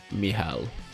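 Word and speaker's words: Michał: L in Polish is pronounced like W in the word how. Oh, okay, so it is Michal, right? Michal, yeah, something like that.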